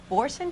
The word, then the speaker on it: Boursin: today which is very exciting it's chicken with bouron cheese sauce and Italian cinnamon Walnut coffee cake am I pronouncing the cheese correctly yes you are wonderful